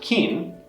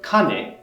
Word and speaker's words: 金: If it's pronounced kin, the nuance of gold is stronger. It can also be pronounced kane when it refers to money, or kana inside of compounds and names like Kanazawa.